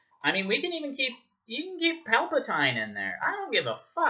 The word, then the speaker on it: Palpatine: I don't mind the whole Palpatine angle, or Palpatine, however you want to fucking pronounce it. I always pronounced it Palpatine. I'm pretty sure the canon says it's Palpatine. I don't give a fuck. Yes, it is Palpatine.